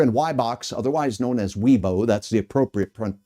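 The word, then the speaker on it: Wibaux: So if you're in WBOX, otherwise known as Weebo, that's the appropriate pronunciation.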